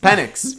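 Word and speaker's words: Penix: How do you say his name? I think it's Penis. No, no, it's X. Pennix.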